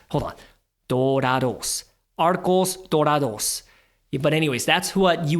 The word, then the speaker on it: Arcos Dorados: then you invest into Arcos Doritos. Am I pronouncing that right? Dorados. Dude, I took Spanish for like 5 years. I'm still ass. I can't even say, hold on, Dorados. Arcos Dorados.